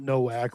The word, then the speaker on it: Nowak: So it's spelled Nowak, but he's Polish, right? So Novak. So it should be Novak.